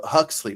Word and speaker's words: Huxley: And man, uh so I I highly recommend you guys go grab a brave new world by Alders Huxy. So Huxley. Wow, did I say his name right?